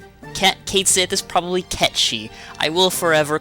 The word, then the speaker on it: Cait Sith: care I recently learned that Cait Sith is catchy and I don't care because ever since final fantasy 7 10 6 years old I have pronounced to kates it and that is what it shall be to me forever why am i